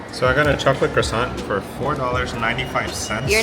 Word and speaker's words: croissant: So I got a chocolate croissant for $4.95.